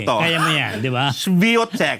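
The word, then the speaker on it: Świątek: Svotech o yun pala pronunciation. Viotech akala ko si hindi pala ganon gumagapang si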